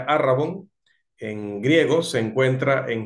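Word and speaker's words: ערבון: versículos 17 y 18 la palabra hebrea que pueden ver allí el escrito pero que se pronuncia Aragón en griego se encuentra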